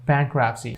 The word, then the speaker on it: bankruptcy: to the next board bankruptcy so this bent RUP RUP see this T will be automatically silent bankruptcy bankrupt let's go